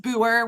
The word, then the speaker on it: Booher: It's just Booher. We don't pronounce the H, so that's my Okay, husband's name.